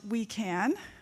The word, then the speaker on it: WUICAN: We are supporting the communications needs of what is now called the Wildland Urban Interface Climate Action Network, which is pronounced We Can.